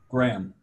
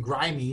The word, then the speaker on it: Graham: How do you pronounce that first name? Graham. Oh, okay, makes it easy. I was thinking grimy, but all right.